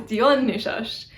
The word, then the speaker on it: Dionysus: Dionysus, maybe surprisingly, is Dionysus, Dionysus. You can probably hear I use a retracted S. It's like a sh sound instead of a s sound.